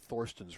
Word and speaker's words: Thorsten: I mean, there's not a lot of Thorstens running around. Yeah. Well, it is German, so it's Thorsten Hohmann.